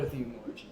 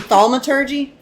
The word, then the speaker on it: thaumaturgy: I do not know Theumology. That sucks. You mean thaumaturgy?